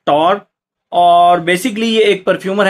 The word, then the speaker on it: Tauer: आज जिस फ्रेगरेंस के बारे में हम बात करेंगे इसके ब्रांड का नाम है टॉर और बेसिकली यह एक परफ्यूमर है एंड टॉर के नाम से।